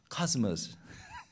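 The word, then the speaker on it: cosmos: 코스모스의 헬라어로 코스모스, 영어로는 카스모스.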